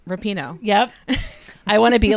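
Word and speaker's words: Rapinoe: I didn't really I because I know I mispronounced it oh Rapido rapino yep I want to be like Megan rapino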